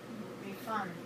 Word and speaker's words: refund: do you pronounce refund as a verb we pronounce refund as a verb refund okay next question is the word record a